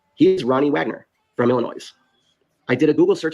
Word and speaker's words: Illinois: Illinois is it is Illinois what are you talking not Illinois I live here it's not Illinois I promise you it's Illinois I don't believe you I think you're mispronouncing leave the ass off it's like jalapeno leave